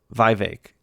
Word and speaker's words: Vivek: He said once it rhymes with cake. Vivek.